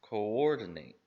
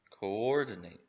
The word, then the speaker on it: coordinate: word should be pronounced coordinate coordinate with a little bit more stress and volume on that syllable so what does coordinate